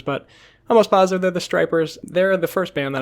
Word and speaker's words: Stripers: I believe it is the Stripers. It is spelled S T R I P E R S. So I don't think they're the Strippers. I think they're the Stripers.